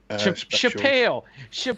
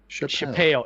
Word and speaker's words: Chappelle: seen the dave chappelle chapelle at least get his name right chapel chappelle is how he himself pronounces it i'm just saying i